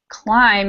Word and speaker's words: climb: the B is silent climb is another one where the be is silent so we have some